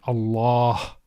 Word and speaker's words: الله: The lam with the shadda is pronounced with tafkhim, with heaviness. So as we said, Allah.